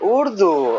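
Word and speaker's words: Urdu: I thought you said it was Erdo. Oh, Udu. Oh, udu. Sorry. There we go. Pronunciation issue.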